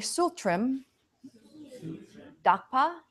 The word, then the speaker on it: tsultrim: that idea is number five can you say tsultrim doc PAH tsultrim duck paw sole trim is GS u l TR IM